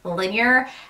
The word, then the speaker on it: Linjer: first off the name linear even though it's spelled with a J it's pronounced linear and that is the